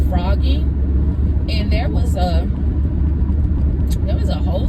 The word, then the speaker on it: phrogging: It might be on YouTube now, but it's called frogging, and it's spelled PHROGGING, frogging, PH with the PH.